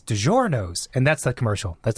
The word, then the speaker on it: DiGiorno: You mean DiGiorno? Okay, again, don't be rude. DiGiorno. No, it's in the United States. It's DiGiorno. No one in that commercial is saying DiGiorno. No, it's well, if you want to make it authentic, you have to give it the right pronunciation.